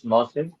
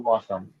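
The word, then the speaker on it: موسم: So it's not actually we say the actual word in Arabic is mausim, but we say in Urdu mausam.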